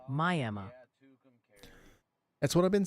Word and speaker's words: Miami: Miami, Oklahoma is pronounced Miami.